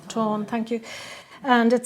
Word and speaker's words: Táin: Táin, thank you.